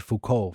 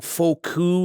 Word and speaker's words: Foucault: in your press release you said Foucault for his last name, right? Yes. Yeah, so that's a lot of people get that wrong. Foucault is a pronunciation you hear sometimes, but I remember that